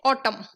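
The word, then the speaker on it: autumn: Words में यूज तो करते हैं, बट वो प्रोनाउंस नहीं होते हैं। जैसे कि यहाँ पे है ऑटम, ठीक है, म, ऑटम, म, एन का तो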